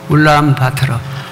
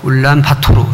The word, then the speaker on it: 울란바토르: 저는 소개받은 대로 몽골 수도 울란바토르, 몽골 안 간 사람은 울란바토르 이렇게 발음하고 본토 발음은 울란바토르 이렇게 되는데요.